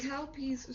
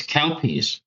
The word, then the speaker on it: Calpis: It's Calpee's soda lemonade. Oh, it's Calpis. It's called Calpis. Calpis. That isn't bad. That's just what it's pronounced as Calpis.